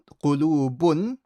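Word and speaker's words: قلوب: And make sure you say the qaf properly with a qu.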